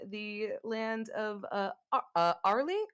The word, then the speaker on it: Aurely: Uh, she is a Teling divine sorceress uh, from the land of uh, uh, Arley. Arley, is that how it's pronounced?